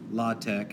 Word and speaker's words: LaTeX: thing in this tool it's called la tech it's spelled latex it's a typesetting language